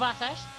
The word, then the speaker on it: Atesh: Thank you to Alex the G, by the way, for providing me with that beautiful German pronunciation, I should say, of Atesh.